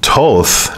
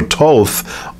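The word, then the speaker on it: Thoth: book here there it is so it's actually pronounced Toth not I guess the H one of H is a silent so Toth also known as tahudi is the ancient Egyptian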